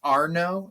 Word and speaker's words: Arno: I want to So your last name is Arno.